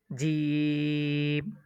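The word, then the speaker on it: جيم: এখন দেখুন জিম, জিমটা ৩ আলিফ টান হবে উচ্চারণের ক্ষেত্রে।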